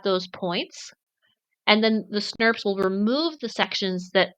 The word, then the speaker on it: snRNP: abbreviated to snrnp but biologists just agreed to pronounce them snps which is very cute and I'm a big